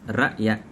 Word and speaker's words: rakyat: vocabulary, they are pronounced rakyat and i'lan. Notice how the sound from ra'yat, i'lan becomes glottal stop, rakyat, i'lan, simply because it is kind of hard for Malay people to pronounce that sound correctly.